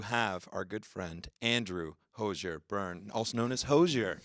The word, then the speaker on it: Hozier: that it's still pronounced hozier yeah it's a nice hard R on that I mean a lot